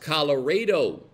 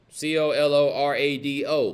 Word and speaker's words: Colorado: It is pronounced Colorado, Texas. C-O-L-O-R-A-D-O, Colorado.